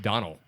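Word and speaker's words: Domhnall: It's actually pronounced Donald. Donald. Like Donald without a D at the end.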